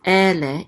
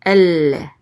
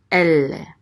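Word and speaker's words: אֵלֶּה: So instead of just ele, it would be elle. And this is the trope or the accent mark here. So we put the accent on the first syllable, elle, and elle means these.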